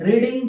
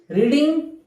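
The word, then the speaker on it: read: रीड, रेड, रेड. V1 V2 V3. आलं लक्षात. Spelling सारखीच आहे, उच्चार वेगळा आहे.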